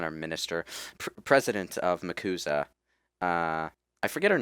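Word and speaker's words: MACUSA: do they actually call it muuza the muuza muuza is how they pronounce the acronym yes we could risk we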